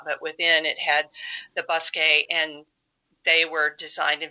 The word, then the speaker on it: bosquet: So when you say bosquet, that's spelled Bosquet. Yeah, I think it's Bous, or it could be it's Bos.